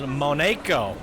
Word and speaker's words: Monaco: So it is pronounced Monaco, and it is French.